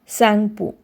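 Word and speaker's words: Tsangpo: And the answer is Sangpo. T silent है यहाँ पर, याद रखना, T को प्रोनाउंस नहीं करना है.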